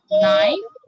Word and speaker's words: knife: अच्छा, इसमें आप देख रहे हो बेटा के लेटर लिखा है लेकिन इट्स साइलेंट है ना. हम क्या करते हैं, इसका साउंड नहीं निकालते बिकॉज इट्स साइलेंट.